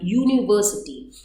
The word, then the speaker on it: university: So again here it starts with a vowel but the sound is like Y, university.